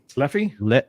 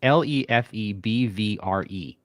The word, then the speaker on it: Lefebvre: Leffy? No. Lefebvre? Lefebvre? It's Lefebvre.